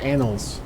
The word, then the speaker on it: annals: Sorry, annals of Arkovia, I should say it correctly. Not annals, like I was saying, annals. Jeez, that doesn't even make sense.